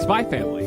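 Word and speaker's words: SPY×FAMILY: And today we're talking about, drumroll, I say it, Spy Family. Spy Family. Okay. With a silent X.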